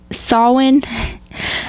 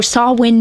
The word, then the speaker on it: Samhain: It's almost Oh, Samhain Night. Samhain Night. I know, it's spelled Sam Hay and it's throwing me off.